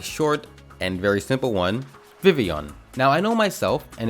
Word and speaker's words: Vivillon: we have a short and very simple one vivon now I know myself and a few other people I know growing up used to pronounce it as Vivillon because that's literally what it looks like and